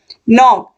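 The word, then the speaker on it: knock: नहीं हो रहा है नॉक नॉक मींस खटखटाना तो के का उच्चारण इसमें भी नहीं हो रहा है नाइट के एन आई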